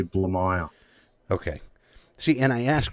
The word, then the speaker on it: Blamire: pronounce your last name the the easiest way to pronounce it is actually blue mile okay see and I